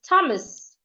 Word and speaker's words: Thomas: H is silent and another word is Thomas the H is silent another is tames the